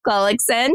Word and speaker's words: Gullickson: You guys, introducing you to Callie Gullickson. Did I say it right? Gullickson. You said it perfectly.